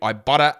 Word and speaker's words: Ibotta: you can do it if you got the Ibotta app and you get cash back.